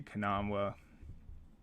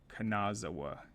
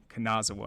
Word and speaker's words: Kanazawa: the favorites with Jay kanawa at quarterback sorry kanazawa kanazawa I knew I was missing the syllable all right but that's